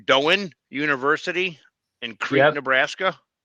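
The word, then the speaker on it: Doane: Doan University in Creek, Nebraska. Yep. How's that? Okay. Don. Yep. Done. All right. One syllable.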